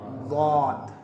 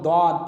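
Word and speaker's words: ضاد: The most difficult pronunciation of वाद। सबसे ज़्यादा कठिन, सबसे ज़्यादा मुश्किल जो तलफ़्फ़ुज़ है वो अरबिक में कौन सा लेटर है? वाद। जिसे बहुत से लोग दौद पढ़ देते हैं, चूँकि उनको पता ही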